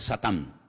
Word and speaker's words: Satán: En hebreo no se dice Satanás, se dice Satán y significa adversario.